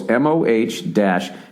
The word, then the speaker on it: modal: It's pronounced this, and it's M. They put it in quotes. MOH-DAL. Modal.